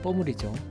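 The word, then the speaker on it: Pommery: 적힌 글자는 메이커 이름인 뽀므리 뽀리는 마지막에 모음으로 끝나기 때문에 알파벳 그대로 꼬리라고 읽어 주시면 됩니다이 뽀므리 샴페인도 마찬가지로 당도는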